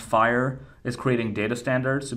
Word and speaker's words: FHIR: focus on the downside so for example fhir pronounced fire is creating data standards to be used through